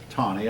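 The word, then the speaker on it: Taney: the Chief Justice tani it looks like that name is pronounced tini but exactly but it's Peltier any why but it's Tony I'm not gonna write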